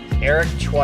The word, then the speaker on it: Eric Choi: Eric Chu is how you say his name.